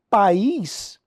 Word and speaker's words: país: se fosse um ditongo a palavra é acentuada pais uma sílaba país duas sílabas tá Teoricamente a regra